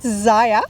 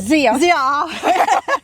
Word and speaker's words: Zia: So, hi everyone, we're here with Zaya. Did I pronounce right? Zia. Close.